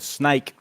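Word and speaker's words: Sneek: answer sure yes it's a town called snake in the Netherlands oh okay it's actually spelled the snake is spelled SN e k and I actually did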